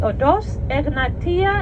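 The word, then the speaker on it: οδός: o d o s odors is how we say it in Greek e g n a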